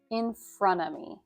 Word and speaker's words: in front of: together so that it's in front of me. In front of me, in front of me. So you kind of drop the T at the end of front and you don't pronounce